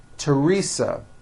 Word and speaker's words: Teresa: like to point out although these next words and names are spelled with a th they are pronounced as if they were spelled with a normal t t like that and